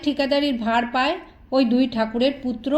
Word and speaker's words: ঠাকুর: তাই গ্রামের মানুষ তাদের ঠাকুর বলে ডাকে সাহেবরা সঠিক উচ্চারণ করতে পারে না বলে তারা বলে টেগোর কুশারী ও পীরালি পরিচয়